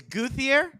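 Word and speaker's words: Gauthier: Their first round draft pick of this year, 2023 draft, is Guthier, is how you pronounce his name. Cuddier, whatever.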